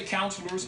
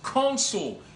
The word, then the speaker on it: consul: It doesn't say counselors. It says consul.